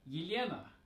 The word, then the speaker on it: Yelena: Next, we have Yelena, Yelena, and the short form is Lena. Again, we have a soft L here, and if we say